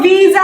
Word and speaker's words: visa: s a what we call it your Visa okay let's use this s is in between